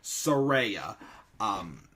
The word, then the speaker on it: Saraya: She confirmed for sure on Twitter and on her promo this week that is in fact Saraya, is how you pronounce Paige's wrestling name and her real life name as well.